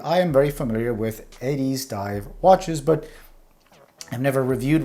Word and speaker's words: Addiesdive: So for a bit of context, Addiesdive, or Addiesdive, I think it's pronounced Addiesdive, is a budget brand